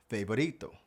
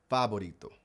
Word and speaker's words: favorito: And also in Spanish, they don't use the hard v sound that we have in English. It's actually pronounced more like the B sound like B and boy. Fabito.